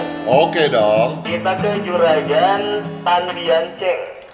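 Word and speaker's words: Tan Bian Tjeng: Kita ke Juragan Tan Bian Cheng. Tan? Ejaannya T-A-N. Ya. B-I-A-N. B-I-A-N. T-J-E-N-G. T-J-E-N-G. Tan Bian Cheng.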